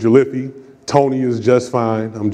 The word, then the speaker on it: Jolliffi: It often gets mispronounced, but it's Jolliffi.